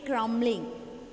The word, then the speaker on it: crumbling: So when that M and B comes together, crumbling, you have to say crumbling. that B is silent, okay?